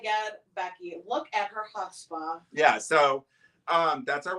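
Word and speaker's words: chutzpah: God look at her she thinks she has huspa oh my god Becky look at her huspa yeah so um that's our word of the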